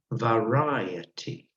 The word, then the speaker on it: variety: unfortunately while it's varied the noun from that process has a different pronunciation that is variety varied and variety you can see the big difference in pronunciation okay all right who